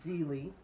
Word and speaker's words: Gigli: It's called Geely, Oh, but it's spelled Gigli.